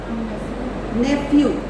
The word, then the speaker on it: nephew: Correct pronunciation कैसा रहेगा? नेफ्यू। फ आ जाता है, फ का साउंड आ जाता है।